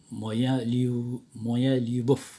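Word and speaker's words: Моя любовь: Cara bacanya yang di bawah. Moya Lyubov.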